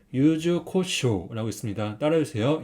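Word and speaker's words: 柚子胡椒: 주세요 카라시네 카라시 그다음은 이거는 유자 후추라는 소스입니다 발음은 유즈코쇼고 있습니다 따라해 주세요 유즈코쇼 유즈코쇼 세 번째는 이거는 알죠 된장이 된장 소스 그래서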